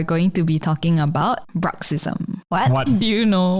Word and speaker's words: bruxism: this Quest are going to be talking about bruxism what what do you know what that is